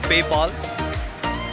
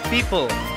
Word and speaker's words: Pyypl: Hello folks, so sorry, it's my fault, it's not PayPal. Very close. It's called People, if I'm pronouncing it right.